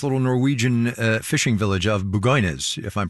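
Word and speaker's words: Bugøynes: Tell me, first of all, just as a scene setter, what happened to this little Norwegian fishing village of Bugoynes, if I'm pronouncing it right? Yeah, Bugoynes.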